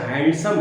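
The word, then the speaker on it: handsome: बोलेंगे तो सेंटेंस गलत जैसे हैंडसम है डी नहीं बोला जाता हैंडसम गार्डन है डी नहीं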